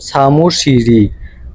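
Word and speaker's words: 사무실이: তাহলে উচ্চারণটা হবে এরকম সামুশিরি, সামুশিরি মানে অফিস।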